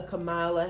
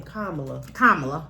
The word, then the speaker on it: Kamala: No, that's not how you say her name. Kamala. This is a Kamala. I think it's because of our accent. I think we just make that long, like Kamala.